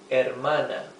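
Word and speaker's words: hermana: Mano and our sister will be our mana.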